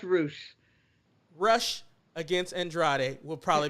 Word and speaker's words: Rush: came into the picture rush versus andrade might be a really good match it's pronounced roosh rush against andrade will